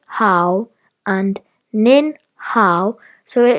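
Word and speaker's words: 好: Another character we learned today, still in ni hao, is pronounced hao, which means good.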